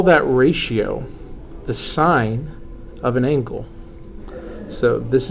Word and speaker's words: sin: to anybody listening so this is still pronounced sign even though it's an abbreviation for the uh for